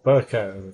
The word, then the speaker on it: Burkow: Or Burko, they pronounce it Burko, but it's spelled out Burkow.